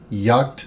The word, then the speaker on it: Jagt: the giant mouse Ace yach and looked it up Yak seems to be the pronunciation of this this is an Italian